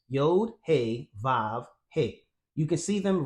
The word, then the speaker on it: Vav: Furthermore, it tells us that the pronunciation of the 3rd letter, which is transliterated as W, is actually pronounced as the V sound. So the 3rd Hebrew letter there in modern pronunciation is Vav, just like I said